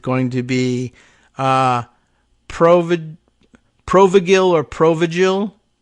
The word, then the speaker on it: Provigil: under the title of it's pronounced Pro vigil and I believe that's